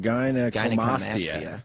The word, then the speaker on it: gynecomastia: Gynecomastia. Gynecomastia.